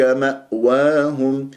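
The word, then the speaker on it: مأواهم: الهمزه فاولئك لا فاولئك ماواهم ماواهم شوف الهمزه هذه ماواهم فلازم نقفل الاوتار الصوتيه جيدا من غير قلقله او همزات متكرره وهم خطا ماء وهم ماء وهم ماء واهم الف ساكن قبلها وهو مفتوح في كلمه ماواهم راح يكون عندي ما الطبيعه حركتين وليس ماء وهم تفخمها لا تكبر قطر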